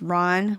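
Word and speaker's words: Rán: So Ron, which is pronounced Ron, one syllable like the A in father, she is a Norse sea goddess, wife of, Aegir, the god of the ocean himself.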